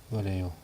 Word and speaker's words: Vallejo: How do you pronounce it? Vallejo, yes.